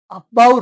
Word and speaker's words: Aufbau: ये जो अफबाउ, इसको प्रोनाउंस ऐसे किया जाता है, देखो, ओ एफ ऑफ, बी ओ डब्ल्यू, बो, अफबो, अफबो। ठीक, ये जो अफबो है ये एक जर्मन वर्ड है, और इस